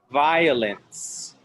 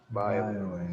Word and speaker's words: violence: Like saying bye, but with a V. Vi. Fire. Violence. Violence.